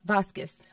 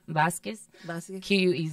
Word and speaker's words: Vasquez: yes do that you pronounce your last name again for me vasquez vasquez okay or it's really nice to be like vasquez is almost like a kiss sound okay i